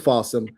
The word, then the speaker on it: Folsom: For the folks out there who've never heard of Folsom, it's spelled awesome with an F in front of it.